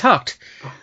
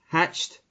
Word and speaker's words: Haacht: No, it's Haacht.